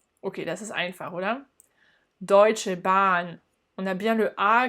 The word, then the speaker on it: Deutsche Bahn: Deutsche Bahn. On a bien le A qui est long puisqu'il est prolongé par la présence du H. Deutsche Bahn.